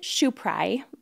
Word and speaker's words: Schopieray: say your last name so it's schuprae but it's spelled s-c-h-o-p-i-e-r-a-y and you have to say it in that cadence what's funny is like